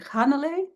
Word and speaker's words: Hannele: name perfectly is it hanal something more like more emphasis on the beginning of it yeah yeah yeah you you put the emphasis on the first syllable H okay thank you